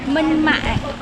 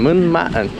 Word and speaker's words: Minh Mạng: How do you pronounce the name of the tomb again? Minh Mạng. Minh. That's a hard one. Minh Mạng.